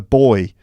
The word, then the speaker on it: buoy: a little that's a buoy we call it a buoy a buoy okay and whereas we would call it a boy there's also a picture